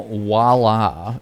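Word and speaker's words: voilà: Walla. Thank you for finally pronouncing or spelling that right.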